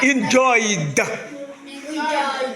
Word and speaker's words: enjoyed: Donc après une diphtongue, le ED se prononce do. Voilà, enjoyed.